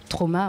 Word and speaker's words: Traum: Ouais, je dis Traum parce que je le prononce en allemand, ça signifie rêver.